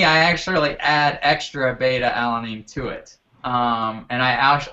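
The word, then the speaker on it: beta-alanine: say it alan i don't say it right beta alanine beta alanine alanine okay beta alanine and that's just like a um just uh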